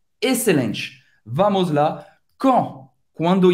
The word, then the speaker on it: quand: Quando em francês, quand, A-N, tem esse som bem nasal, quand. O D não se pronuncia.